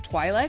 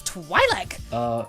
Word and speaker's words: Twi'lek: with this super kick-ass Twi'lek. That's not how you pronounce it. I have been reading the words for 20 years before anyone bothered to say it on screen. It's Twi'lek.